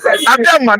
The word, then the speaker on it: Abiama: Abiama is Abraham in Igbo language. Most of you don't know the meaning of Abiama. Abiama, that is how we pronounce Abraham.